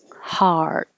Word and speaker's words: heart: Heart. With a T that you don't have to release unless there's a vowel after it. So this is ah, like hot. Um, the ah sound can be spelled with an O, an A, an EA here. Heart. So heart. Curl your tongue back before you put it in the T position.